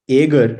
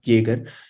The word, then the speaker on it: Jaeger: traces in this uh it's it's called it's agar it's like not kager because J is pronounced yes y baby it's in Dutch or